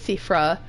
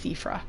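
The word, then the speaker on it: Siofra: Um it's a Gaelic spelling and I'm I'm actually quite bad at at those, but I think it's Sephra River. It looks like Chauffeur River, but it's Seaffra.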